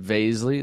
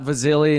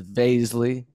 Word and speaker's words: Vaszily: with us today vasley that's vasley rhymes with Paisley not Vasily not Vasily not Vasily it's Baisley oh uh it's funny